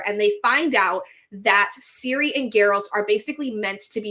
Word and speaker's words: Ciri: off because I was saying the Siri name, but in here it's spelled Ciri.